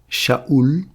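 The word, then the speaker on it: שאול: Saül en hébreu, c'est Shaou. C'est un chine, un alf, un va et un lamè.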